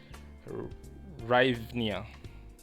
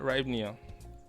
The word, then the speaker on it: Hryvnia: The Ukrainian, I don't know how to pronounce it, but I think it's pronounced as Hryvnia, right? So, the Ukrainian Hryvnia, as at January, you